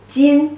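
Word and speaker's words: 斤: Jin pronunciation, jin, jin.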